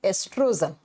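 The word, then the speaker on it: estrogen: नाम होता है एस्ट्रोजन लिखा जाता है ओ से प्रोनाउंस के समय ओ साइलेंट हो जाता है ई से बोलते हैं इसे एस्ट्रोजन और दूसरा ओरी से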